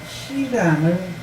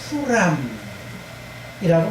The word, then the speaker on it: 히람: 왕하고 이름이 똑같은데 역대하에 보게 되면 그 히람을 후람이라고 말합니다. 왕의 이름도 그냥 후람. 왜냐하면 히브리어에 이게 뭐냐면 자음을 어떻게 하느냐, 모음을 어떻게 하느냐, 이로 발음하느냐, 우로 발음하느냐의 차이예요.